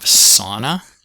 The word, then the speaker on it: sauna: All right, next up we have sauna, sauna, sauna, with the aw vowel.